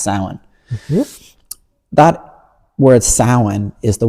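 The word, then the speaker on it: Samhain: The word Halloween comes from a word called sin, which English other English speakers often say wrongly as Sam Hayne, but it's actually pronounced sin.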